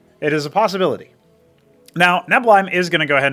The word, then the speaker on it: Neblime: We've got a gateway coming here for Neblime, or Neblime as it's actually pronounced.